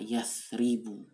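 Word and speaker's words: يَثْرِبُ: Muncullah kata-kata yathribu, kota Yasrib. Nah, Yasrib itu kalau ditulis, silakan lihat catatannya, ya, tha, ro, dan ba. Itu mengikuti pola yaf'ilu.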